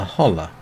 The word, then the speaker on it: Holle: This is the tail of Mother Holla. And I'm pronouncing the E at the M because I'm pretty certain that's how it would be pronounced.